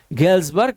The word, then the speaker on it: Galesburg: याद रखिएगा, इंपॉर्टेंट है, गेल्सबर्ग इलिनॉय। एस को प्रोनाउंसिएशन में नहीं लेके आना क्योंकि ये एस साइलेंट रहता है।